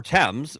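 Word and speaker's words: Thames: Now they have the river temps. Ours is the Temps River because we put names before the thing and it's spelled like Fames.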